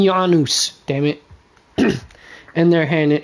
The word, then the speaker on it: Janus: in J Janus corter I know they say Janus Janus corter but it's pronounced freaking yanus damn it and they're